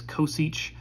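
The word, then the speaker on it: cosech: the names of these we pronounce this kosich siege and coth i know that might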